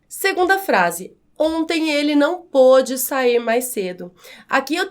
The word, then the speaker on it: pôde: Note que a forma verbal pode no presente tem o som mais aberto. Pôde, no passado, que é o caso dessa frase, tem o som mais fechado, recebe, portanto, o acento